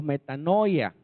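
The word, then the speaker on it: μετάνοια: Vale síguelo entonces arrepentimiento es una palabra griega que se pronuncia así metano o metanoia qué es metanoia que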